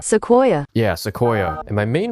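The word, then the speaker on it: Sequoia: but also new enough that we can put Seoia on here, right? That's how you pronounce it. Seoia. Seoia.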